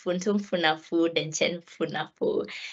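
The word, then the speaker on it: Funtunfunefu Denkyemfunefu: Yeah, so it's Funtum Funafu Denchen Funafu.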